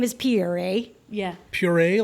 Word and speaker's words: Pierre: is pierre eh yeah puree like yes it's spelled pierre but they say puree right the brazilians yeah they pronounce it